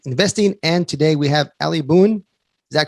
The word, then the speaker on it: Ali Boone: And today we have Ali Boone. Is that correct? Is that pronounced? That's it. That's it. Just like Daniel Boone.